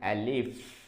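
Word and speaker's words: ا: let's start Arabic alphabet Arabic alphabet first one alif alif will be written like that alif alif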